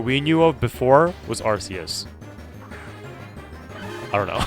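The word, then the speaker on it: Arceus: do you pronounce arus I pronounced it the way that everyone pronounced it when he was originally released and now apparently people call him archus which is very strange to me but I I still pronounce him the the name I pronounce the name the same way that it is pronounced for a very very long time before Legends of arus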